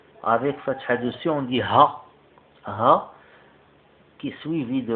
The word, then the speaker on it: ه: Ha. Ha. C'est comme le H, mais Ha. Ça sort du fond. Ha. Ici un exemple qui commence avec un A, la lettre Ha. Avec fatha dessus, on dit Ha.